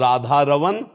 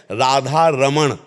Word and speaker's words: राधा रमण: मगन मन श्यामा और राधा रवन सकल सुख धामा राधा रवन राधा रवन सकल सुख दमा और शुद्ध शब्द है अगरम उच्चारण करते हैं राधा रमण राधा रमण और राधा रमण राधा रमन ना को हटाकर ना